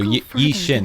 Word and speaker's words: Yixuan: So, Yishin, that's how we say her name.